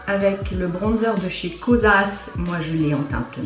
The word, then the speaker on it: Kosas: Pas Kosas, mais Kosas.